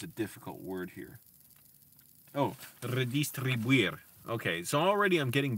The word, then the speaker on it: redistribuir: Oh, redistribuir.